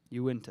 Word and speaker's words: Uinta: 3 syllables. Uinta. Yeah. Accent on the syllable number 2. Uinta. Uinta.